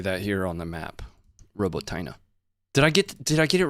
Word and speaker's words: Robotyne: Robotyne.